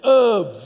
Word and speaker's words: herbs: it's not tabs its herbs the H is silent okay so we grow